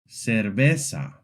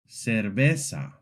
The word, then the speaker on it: cerveza: In Latin American Spanish, Z is very simple. It's pronounced just like S. This means that any word with a Z sounds exactly the same as if it had an S.